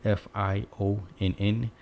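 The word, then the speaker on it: Fionn: distinction okay finbov now that word right here f-i-o-n-n you can pronounce it when or well it's two ways it's either thin or the more logical and practical fion that's fion okay now this one it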